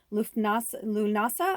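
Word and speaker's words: Lughnasadh: It's Lunasa, I think it's called Lunasa. It's spelled Lughnasa.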